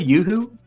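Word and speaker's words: UHU: But it's spelled just U-H-U. How's it spelled? I don't even remember. Yoo-hoo? Y-O-H-O-O? Yeah, like yoo-hoo.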